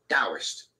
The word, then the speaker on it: Taoist: a o i sp so it's written in taurus and pronounced with a d taoist that always confused the hell out of me in the early days anyway it came about